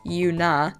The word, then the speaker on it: Yuna: create one of my own, and thus Yuna, pronounced Yuna, was created, a lush land filled with dragons of all kinds.